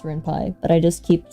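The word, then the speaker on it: Ren'Py: she's never had also I know it's pronounced renai but I just keep saying Reni I don't I don't know why like one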